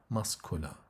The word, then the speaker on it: muscular: And here, when we add AR, the C here should be pronounced as K. So we say muscular.